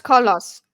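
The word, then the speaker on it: Koloss: quietly or the cus how do you say that colos colos no it's colos because there's two s's and the colos calir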